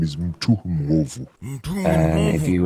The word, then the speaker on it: Mwovu: My full name is Mtu Mwovu. Mtu Mwovu. And if you will spell that out for me, I'll...